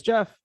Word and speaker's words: Geoff: even in the country it's british english spelling i still hear people read it wrong all the time or when i say my name is jeff they write down jeff